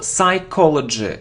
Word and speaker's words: psychology: psychology it isn't psychology no we don't pronounce P so psychology psychology of dumb brands be